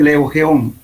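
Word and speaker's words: Lugeon: Ya, se escribe Leugeon, con L.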